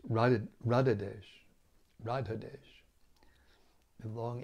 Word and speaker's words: Radhadesh: Now this Radha is not with a long A at the end. It's different than Radha. It's Radhadesh.